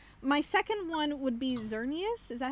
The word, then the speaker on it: Xerneas: hand in hand my second one would be xerneas is that how you pronounce it xerneas yeah yeah so I can confirm my expert